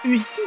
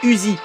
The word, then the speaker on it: Uzi: Mais par contre quand j'ai prononcé là, voilà, pas Ui, non, c'est Uzi.